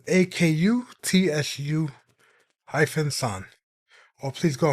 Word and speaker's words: Akutsu: And it's spelled A K U T S U hyphen san. Or Please Go Home, Miss Akutsu.